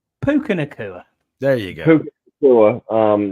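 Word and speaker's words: Puka Nacua: Puka or whoever the fuck our official name pronouncer. Puka Nakua.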